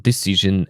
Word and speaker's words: decision: uh for example decision occasion s is pronounced j like in television or measure.